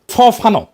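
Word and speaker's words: Fanon: ফানো নাম্ আসল উচ্চারণটা।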